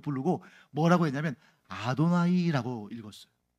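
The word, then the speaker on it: אֲדֹנָי: 이름을 부르는가 해서 감히 못 부르고 뭐라고 했냐면 아도나이 읽었어요 써 있는 문자는 성부 하나님의 이름 내 자음 되데 읽을 때는 뭐라고 읽었다고 아도나이이 정도는 외워 드시는게 좋겠네요 자 따라해서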